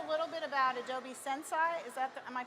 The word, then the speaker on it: Sensei: could tell us a little bit about Adobe sense I am i pronouncing it right sensei yeah that's serious like